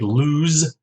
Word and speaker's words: lose: got loose and lose notice the difference in the pronunciation of s here and the first one loose is a s sound loose and the second lose the z sound lose loose and lose so